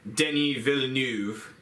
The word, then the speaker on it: Denis Villeneuve: the amazing vision of director Denny Villeneuve that's how you pronounce that he's not freaking Mexican he's kept he's french-canadian oh I I just